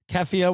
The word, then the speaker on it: keffiyeh: So you have small Asians in the thing, keffiyeh, whatever it's called. Am I pronouncing it?